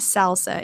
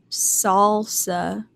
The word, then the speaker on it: salsa: pronounce things properly um one thing I get in trouble for a lot is I say salsa I know it's not the spicy red dip I know it's not salsa it's salsa salsa but I always want to say it wrong I always want to say salsa because that's how it looks to me so yeah I'm just